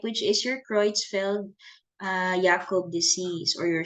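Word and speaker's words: Jakob: is your cfel uh yakob disease or your C CJ D okay so um just assuming that this is a German name so that is why I pronounce the J as y okay and H G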